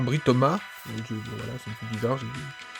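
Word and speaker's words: Britomart: Britoma. Britona. Non, Britoma.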